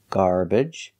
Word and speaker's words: garbage: stressed garbage for this syllable we have three pronunciations you can use the a sound like cup and up garbage garbage the schah sound is an unstressed uh